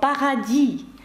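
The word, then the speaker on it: paradis: Привіт є красиве слово пагаді пишеться з літерою с наприкінці це приголосна вона не вимовляється і параді французькою -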